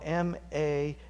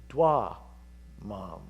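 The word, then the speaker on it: damam: Anyway, it's not mamar. Moi, mom. Okay, there it is. It came to me. Moi, mom, spelled M-A-M, or excuse me, that's because I'm saying it wrong. It's dwa, mom. There we go. D-A-M-A-M, dwa, mom.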